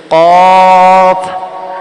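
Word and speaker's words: قاف: দাত প্রথমে লেগেছে কিন্তু কফ উচ্চারণে আলিফের মত আলিফ যেমন লাস্টে দুই দাত লাগছে ঠিক তেমনি ক লাস্টে কিন্তু উপরের দুই দাত নিচের ঠোটের মাঝখানে লাগবে সানে আউলিয়ার দুই দাত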